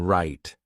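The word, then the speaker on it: write: For example, some words have silent letters like the K in no or the W in right. These letters do not make sounds.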